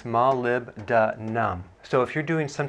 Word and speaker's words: molybdenum: It's hard to pronounce, but it's molybdenum.